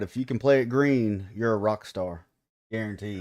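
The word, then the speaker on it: Gruene: So Green Hall. yeah, green. It's the oldest dance hall. What? Yeah. Grueni. Yep. Grueni. Green. Yep. Just pronounced green.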